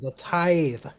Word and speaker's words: tithe: what she said, the tithe. Oh. Yeah, I might be mispronouncing it because I realize I don't pronounce my TH well.